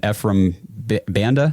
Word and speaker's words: Ephraim Banda: So I know, first of all, we've done Jason Tarver, the linebackers coach for the Browns, and Ephraim Banda.